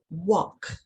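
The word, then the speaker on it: Vach: This form of Sanskrit was called, as well as by other names, Vak, that's spelled V-A-C-H, the mystery speech, signifying the pulsating or vibratory tones that lie latent in the syllables and words.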